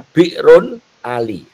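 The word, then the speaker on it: بئر علي: Pak Aang ya, kita ke ambil ee yang paling kanan itu gambar ee Masjid Bir Ali. Untuk pengetahuan saja kenapa disebut bir Ali itu bacanya bi'run Ali.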